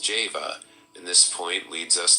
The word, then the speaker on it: Jehovah: by the letter j whence Jehovah should be pronounced Java and this point leads